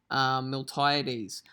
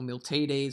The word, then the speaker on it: Miltiades: And it's one of the generals, Miltiades, or Miltiades, I've heard both pronounced.